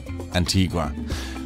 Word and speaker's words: Antigua: maria la antigua and in spanish it is Antigua the clip you heard